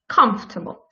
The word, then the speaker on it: comfortable: which also uh looks like it has four um syllables but it actually hasn't is the word comfortable so the word comfortable doesn't have any for in this word so uh uh when you pronounce this word you want to pronounce it like comfortable comfortable right so nor fourth syllable and well i decided